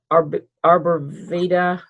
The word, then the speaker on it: arborvitae: Arborvitae.